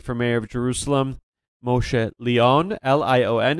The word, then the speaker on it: Lion: other leading candidate for mayor of Jerusalem, Moshe Lion, Lion. It's pronounced Leon, and I'm unfortunately spelled Lion, in Friday's Jerusalem Post, where he's going to speak about his platform.